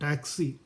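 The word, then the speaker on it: taksi: ടാക്സിയുടെ spelling എന്താ കാണുക ടി എ കെ എസ് ഐ എന്നാണ് ടാക്സി സ്പെല്ലിംഗ് കാണുക ഉച്ചാരണം ടാക്സി എന്നാണ് അപ്പൊ നിങ്ങൾ ഈ എസ്സെൻസിന്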